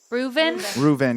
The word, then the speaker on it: Reuven: Reuven, yeah, it's like Reuben, but with a V.